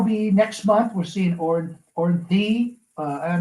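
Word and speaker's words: Orianthi: We're seeing Ornthi. I'm not going to pronounce her name wrong all the time. Orianti, the guitar player. Orianti.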